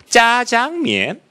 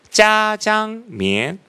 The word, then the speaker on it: 짜장면: 다 서서 이야기를 하는데 다들 발음을 이렇게 했어요. 짜장면. 다 이런 거예요. 짜장면. 짜장면. 여러분 뭘로 들려요? 짜장면을 들리죠. 그래서 그걸 갖고 온 거예요. 그래서 국립공원을 찾아갔어요. 보세요. 저는 아무리 들어도 짜로 들립니다.